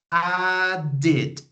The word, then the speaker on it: added: present add in past added okay two syllables add in present added in past with an extra okay very good let's